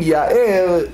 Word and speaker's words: יאר: And if he said Ya'er instead of Ya'er, meaning he's not using the garon, the throat, in his pronunciation, he may misconstrue, he may misinterpret it as a curse instead of blessing.